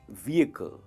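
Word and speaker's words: vehicle: व्हीकल वो stretch होता है, और एच है ना वो साइलेंट है, तो कहेंगे व्हीकल।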